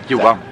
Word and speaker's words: Johan: I'm just shopping with Johan or Yuan. Yuan? Yuan. Yuan. Yuan. But it's spelled like... J. J-O-H-A-N.